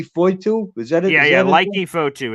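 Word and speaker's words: Leki Fotu: Leaky Foitu is how you pronounce it.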